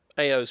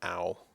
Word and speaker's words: Ao: AO's pretty good. Or I think it's pronounced owl.